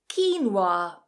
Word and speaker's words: quinoa: There are 2 different ways to pronounce this one. If you can get both, then double points to you. Quinoa, quinoa, or quinoa, quinoa. So 2 quite different ways there. Quinoa, which is more common, to be honest. Quinoa is definitely more common, but quinoa is also accepted.